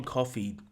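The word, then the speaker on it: Coffey: got the introduction of John coffee like the drink except not spelled the same so John coffee enters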